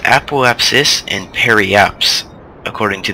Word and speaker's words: apoapsis: appap and I looked it up it is pronounced apoapsis and per apps according to the Webster Miriam